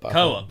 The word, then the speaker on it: Koepp: Koepp, right?